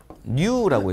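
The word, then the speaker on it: ν: 읽을 때 New라고 있습니다. 읽을 때 New라고 읽는 거고, 얘는 사용되는 단위가 스톡스라는 단위를 써요.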